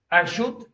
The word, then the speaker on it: eixut: Eixut rima amb plenitud. Sona igual, no? Per què? Perquè resulta que en català la T final i la D final sona igual. Allí ho tens, d'ahir. Vale?